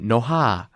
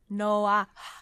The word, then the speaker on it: Noha: And Noha. Oh, I thought it was Noah. Yes, the H is definitely audible in my name.